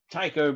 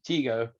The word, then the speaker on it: Tycho: of tycho brahe and i've heard they pronounce it teego tycho brahe who was a dane he was from denmark yeah teego brahe i think that might be a better way of saying it i don't know very